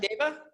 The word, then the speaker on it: Deva: All right, Deva? Or did I say it right? You said it right.